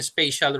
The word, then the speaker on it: spatial: interface elements by expressing spatial relationship between elements when you speak about spatial it's not special okay spatials is spelled s